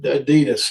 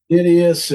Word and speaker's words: Adias: He didn't understand how to say it Adidas cuz I just went by Adidas up there and he called me Adidius and all kind of different stuff, so.